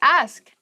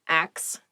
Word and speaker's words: ask: The next word is ask. Ask. Please pronounce this correctly. It is not axe. Many native speakers make this pronunciation mistake and it really bothers me.